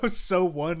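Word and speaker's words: SONE: your sony card so so one is how you say that okay so that's at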